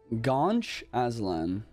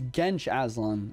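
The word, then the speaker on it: Genç Aslan: So apparently I'm supposed to say his name Gaunch Aslan. Like Gaunch? Is it Gaunch or Gench? Oh, it's Gench Aslan, right? Gench. Like Gench, right?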